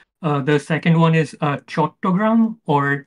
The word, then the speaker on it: Chattogram: I'll also tell you, I'll read out some of the cities just so you know how to pronounce them. The main city is Dhaka. The second one is Chattogram or Chittagong.